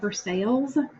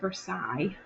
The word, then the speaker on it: Versailles: where the king lived I know it looks like Versailles but you say that Versailles because in French you have silent letters and it's not as complicated as English but sometimes it's complicated so Versailles is how you say that and our last bullet